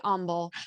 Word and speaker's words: Humble: and you've taught me how to say humble which is which is looks like it's humble right but it's not you gotta go with the silent h uh but uh you